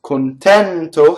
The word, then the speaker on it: contento: So notice there's a false rhyme, because contento has an open E on the stress, and tormento has a closed E on the stress, and it's still considered a rhyme in Italian.